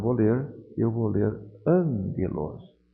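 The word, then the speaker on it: ἄγγελος: ler eu vou ler angelos o primeiro G Eu leio como se fosse um n faça uma pausa no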